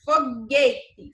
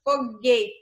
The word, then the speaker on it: foguete: ir e s u do g1 não é pronunciado por exemplo foguete você consegue ouvir o som do saindo da minha boca foguete e não né e se eu tirasse o